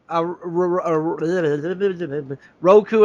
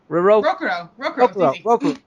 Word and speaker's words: Rokuro: Benio's parents, and him, Roku and Benio try to kill. Why can't I say his name? Rokuro. Why do I want to call him Roku for some?